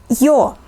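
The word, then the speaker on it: Ё: to some English sounds yo like the sound yo in Yonder e the long e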